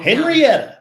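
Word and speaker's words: Henryetta: name of the home henrietta henrietta not henrietta texas and it's spelled h-e-n-r-y yes e-t-t-a texas doesn't have the y and it's only got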